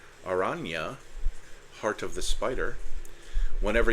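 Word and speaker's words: Araña: Aranya, I'm fairly certain that the tilde means you just kind of put a Y sound at the end of the letter. Aranya, Heart of the Spider.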